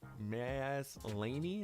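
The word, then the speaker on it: Maslany: by that is uh tatiana mazlaney is how you say her name says her version of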